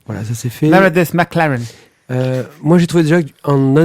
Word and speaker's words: McLaren: Alors, pas McLaren, McLaren. McLaren. McLaren. Claren. Il faut bien prononcer.